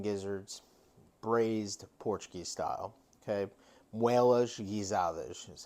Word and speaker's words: Moelas Portuguesas: Okay, Moelas Portuguesas is how you say it in Portuguese.